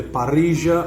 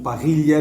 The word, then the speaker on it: parrilla: aqui eu já adianto grelha em espanhol nós temos de parrija ou Parrilla depende da pronúncia depende da região o espanhol tem várias